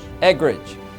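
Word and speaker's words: Eggerich: How do you say his last name? Eggridge. It's E-G-G-E-R-I-C-H.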